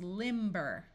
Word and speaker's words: limber: Here we have limb with a silent B, but we add the suffix er and it becomes limber.